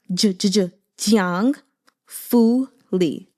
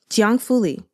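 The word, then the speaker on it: 姜拂黎: So I'll just tell you how to pronounce it in general. Jiang, Jiang Fuli. Jiang Fuli. Very simple.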